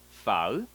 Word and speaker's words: phở: very famous Vietnamese food file let's start it okay there are two steps to pronounce this word so for the pH in Vietnamese we're gonna pronounce like an F and the vows we're